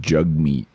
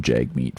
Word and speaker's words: Jagmeet: Did you know, I think I mentioned this, but it's actually pronounced Jugmeat, apparently. Maybe I'm wrong. I'll call him Jagmeet forever.